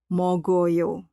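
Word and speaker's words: 먹어요: Saat membacanya, bunyi 'o' terbawa mengikuti bunyi sebelumnya, menjadi "meogoyo".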